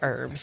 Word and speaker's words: herbs: and neither are you in America we say herbs yes we do the H is silent the H is silent we were all taught that in English class but if you're if you're actually English they say hurts that's true so I